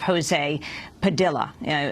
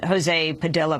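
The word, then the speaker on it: José Padilla: This about the case of Jose Padilla. Jose Padilla pronounces his name in that way as opposed to Jose Padilla.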